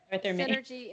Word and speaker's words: SYNRG: off first before my, But Synergy Integrative, it's spelled SYNRG Integrative. The RG stands for Ruiz and Goldstock.